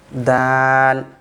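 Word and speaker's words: دال: That is dal. The tip of the tongue will connect to the roots of the front teeth.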